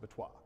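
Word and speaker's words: BOTIS: And when you write that as an acronym, it looks like a French word, so I pronounce it Batois.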